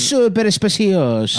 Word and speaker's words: Super Speciosa: They sent a link to how to pronounce super speciosa. Super speciosa. Because I guess I was saying it wrong. It's super speciosa.